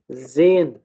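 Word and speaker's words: gehen: और इसके अलावा क्या एग्जांपल हो सकती है जी, एयर, ठीक है, हम इसमें एच जो है उसको प्रोनाउंस नहीं करते। जेन, ठीक है, हा का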